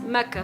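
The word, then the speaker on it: Makkah: the city although the official translation used by the saudi government is mecca spelled as m-a-k-k-a-h which is closer to the arabic pronunciation the full official name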